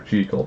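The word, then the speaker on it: Jekyll: something you'd hear dr cheekel mr hyde and yeah i know i pronounced it dr cheekel because that's the correct pronunciation as well as that's how the japanese version is pronounced so yeah let's see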